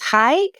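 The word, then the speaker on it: hygge: I try to do I think it's the finish thing which is hi where it's like embracing the Cozy it's h y g g e um and it's embracing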